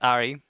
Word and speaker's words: Ari: Your name is Ari. You said it AR. So you know Harry as in Harry Potter. Harry. Yeah. The mage. would be pronounced similarly to that, but ARI is an actual name on its own.